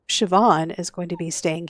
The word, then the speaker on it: Siobhan: show jumping instead so I had to go and look up how to say this name and it's Siobhan so Shian is going to be